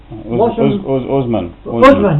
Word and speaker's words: Usman: How do you pronounce it? His name's Wasn't. Usman.